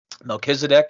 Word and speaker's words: Melchizedek: by the name of monkey sedek melchizedek if you're in a christian circle i'm sure is how you've heard it pronounced um uh so the